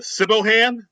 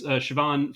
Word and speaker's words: Siobhan: it's it's that uh it's that uh Scottish name where it's spelled uh s i o b h n but it's it's pronounced Siobhan I mean I'm sure